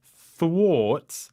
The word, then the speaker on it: thwart: says, UK Cyber Centre thwarts hostile hackers. Thwart. What a word. Nice Thwart. pronunciation. Yes. Thwart. How do you spell it? THWARTS, and it's the AR that makes the Oh, sound.